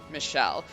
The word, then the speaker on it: Michel: Manor and she revealed her name to be Michelle which is also apparently how we've been supposed to pronounce Michael but for clarity we're